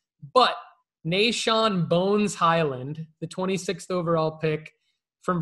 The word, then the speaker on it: Bones Hyland: why isn't it close go for it no bones highland is it that's that's how you say it